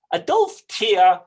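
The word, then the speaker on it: Adolphe Thiers: the forefront of this than a darth tear a dolph tear whose name is spelled t h i e r s is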